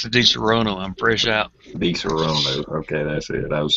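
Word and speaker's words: Disaronno: The token needs some DiSorno, however you pronounce it. DiSorno. All right. The token says, pass the DiSorono. I'm fresh out. DiSorono.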